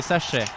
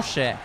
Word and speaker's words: souchet: Et non pas des sachets. Attention. Des Oh. souchets.